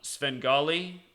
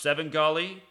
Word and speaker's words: Svengali: did the video on Sven golly alternet also pronounced seven golly the man who told me about it he's actually getting mad he's like it's only pronounced seven golly but I don't know I look at the way it's spelled to be that word says Svengali but anyway it equals